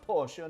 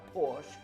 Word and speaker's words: Porsche: oh yes I do own a Porsche it's pronounced Porsche not Porsche we're talking about the Porsche Cayman let's get